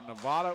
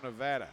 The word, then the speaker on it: Nevada: But it's either Nevada or Nevada, depending on where you're from.